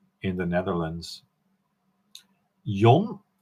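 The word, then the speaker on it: Jan: So in Holland they say Y, not Yan, but Yon, but everybody calls me John.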